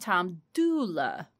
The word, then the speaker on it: Dula: Not Tom Dooley. But his name got mispronounced because of the dialect in the area and the oral telling as it over the years. It became Tom Dooley instead of Tom Dula.